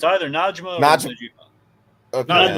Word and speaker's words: Najma: no, it's Not Najima. Najma. It's either Najma or Najma.